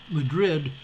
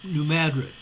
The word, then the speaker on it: New Madrid: in 1803 new mattered it's not clear when the name pronunciation changed from mrid to M New Madrid it was a growing